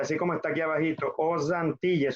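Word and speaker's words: aux Antilles: Os Antilles, suena como Z, Z. Os États-Unis.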